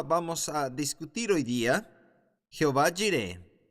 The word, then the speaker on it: Jehová Jireh: Muy bien, la segunda hora vamos a discutir hoy día Jehová Jireh o Yahvah Jireh, si tú quieres tener la pronunciación hebrea.